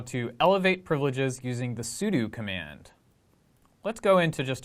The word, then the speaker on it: sudo: So, you pronounce sudo as sudo.